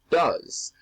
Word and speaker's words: does: And that ES is pronounced like a Z. Go, goes. Do, does.